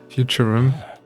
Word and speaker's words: Futurum: Futurum. That's the name of this planet. That's how it sounded pronounced in the local tongue. Anyway, Futurum, the name of this planet.